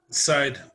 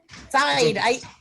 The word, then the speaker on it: Syed: kevin scully president syed i'm here i'm sorry i say your name wrong every night side side side yeah like side elevation there you go i'll